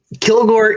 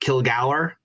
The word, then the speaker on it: Kilgour: So Kilgore is acceptable. Oh, okay, good. All right. It is acceptable. It's whether you want to go with the anglicized name or the more Scottish original name. So Kilgour is the original pronunciation, but both are acceptable.